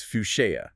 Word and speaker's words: Fouché: by the photographer Ben Fouché. Okay, and for everyone listening, we could probably get the pronunciation right. It's Fuchsia, correct? That's the one, Ben Fouché.